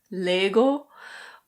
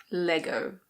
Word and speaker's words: Lego: Danish it's something like Lego, but in English we say Lego. At least that's the British pronunciation. Lego. In American pronunciation the O is a bit different. It's Lego. Lego.